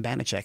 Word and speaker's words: Banachek: And I loved the name Banachek. And I was like, you know what? If I use Banachek the way it's spelt there, they're going to say Banachek.